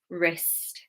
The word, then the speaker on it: wrist: Wrist. Right, wrist, wrong. Wrist, like this, wrist. Okay. So we've got WR. The W is silent.